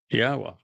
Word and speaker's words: Yahweh: It's a significant accomplishment, since I painstakingly explain how one can prove that it is in fact pronounced Yahweh, doing so in the